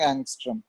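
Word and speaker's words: ångström: इसका प्रोनाउंसिएशन होता है, ए के ऊपर ऐसा छोटा सा सर्किल होगा, इसको बोलते हैं हम लोग एंगस्ट्रम।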